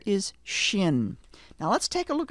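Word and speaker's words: שׁין: left of the letter sometimes people will say Shin sin it's one letter it's the letter Shin but it has the two sounds depending on where that dot is located repeat after me Shin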